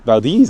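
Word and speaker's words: Valdez: 77 all the way down to Vald Valdis is how you say it.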